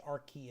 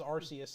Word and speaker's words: Arceus: if there's anything the is the c is pronounced like a cup yeah it's archaea okay arceus i'm glad that i've been saying that wrong this entire time i always thought it was arceus until they put out a trailer and they're